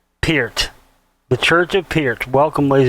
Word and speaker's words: Peart: his name Pierce not pert or pierret Peter that's Gary Lee once said it's a it's ear with a p at the beginning and the T at the end that's uh that's how